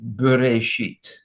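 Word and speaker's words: בראשית: Sometimes the aleph is not to be pronounced, and that is sometimes there is no vowel, as in the word as I show you here, bereshit.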